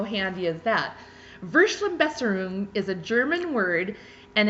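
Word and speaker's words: Verschlimmbesserung: not have heard before this one is called vers la best room yes that's how you say it and I know this because there's a pronunciation he in the back how handy is that versa Besser room is a German word and it means a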